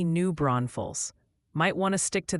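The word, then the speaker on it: New Braunfels: The chat just formed a militia to inform you it's definitely New Bron Falls.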